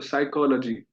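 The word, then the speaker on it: psychology: तो वो स्टार्ट होता है पी से पर पी का उच्चारण नहीं होता है। इंग्लिश में, अंग्रेजी में एक शब्द है साइकोलॉजी, है ना, PSCH इत्यादि। तो उसमें पी है, पर पी उसमें उच्चारण में नहीं आता।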